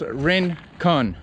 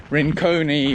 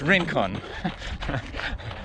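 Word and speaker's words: Rincon: own a drink on it's pronounced Rin Khan Rane Khan I've seen so many reviews and people talking about them and their thing like Rin coney or Rhine con brine its rink on just FYI but I got shoe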